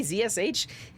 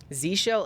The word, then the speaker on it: zsh: as wrong as Jif what am I supposed to say zsh that's three syllables that's three syllables okay we install dependencies here I'm curious what happens if I just do npm run Dev Z shell again that's two that's that's two syllables zsh is three syllables is one syllable I'm